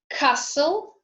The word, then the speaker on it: castle: T is silent in castle, whistle, listen, fasten, Christmas.